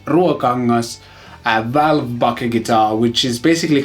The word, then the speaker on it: Ruokangas: And that is the Ruokangas, yes, that's how you pronounce it in Finnish, Ruokangas Valvebucker guitar, which is basically kind of a tube-driven pickup thing in a guitar.